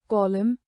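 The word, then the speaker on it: column: Silent N मॉन एन, जब एम के बाद एन आए तो एन साइलेंट रहता है। उदाहरण कॉलम कॉलम, ऑटम ऑटम।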